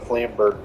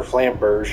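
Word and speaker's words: Flamberge: it's another great sword the flamberg or flamberg however you pronounce it lamborghini that's called the flame bird i think the e on the end is silent uh sorry i'm just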